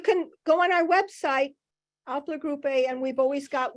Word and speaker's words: Aelper: Pronounce the name of your organization. The way it's Aelper, spelled.